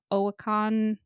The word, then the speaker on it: Oyinkan: Khaw and My Sister, the Serial Killer by Oyinkan.